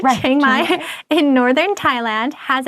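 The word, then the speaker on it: Chiang Mai: outdoor activities so next we have changai I think that's how you say it changai in Northern Thailand has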